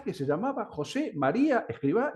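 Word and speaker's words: Escrivá: mismo, es que él se llamaba José, aparte, María, Escribá con B larga y Albaz. Y pasó a ser José María Escribá con B corta y acento en la A de Balaguer. Motivo, ignoro.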